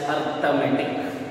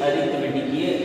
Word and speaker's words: arithmetic: Okay, arithmetic and logic unit, don't pronounce it as arithmetic. Okay, it is arithmetic, ARITHMETIC, arithmetic.